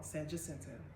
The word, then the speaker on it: San Jacinto: People be talking about me, I say the name wrong. San Jacinto.